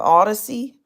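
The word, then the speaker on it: Audacy: of debt through this company called uh Odyssey that's a very interesting name it's spelled a u d a c y and to me it's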